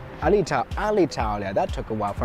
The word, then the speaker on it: Alitalia: Air Italia? Alitalia.